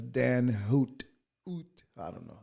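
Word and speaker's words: Dan Huot: I said Dahoud. No, it's Dan Hoot.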